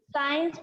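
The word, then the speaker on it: science: साइंस में यहाँ पर जो सी है वो साइलेंट है, चुप है।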